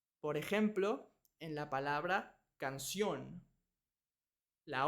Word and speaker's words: canción: ejemplo en la palabra canción La o tiene una tilde significa que vamos a pronunciar más fuerte esa sílaba canción si cambiamos la tilde a la a suena canción pero es incorrecto la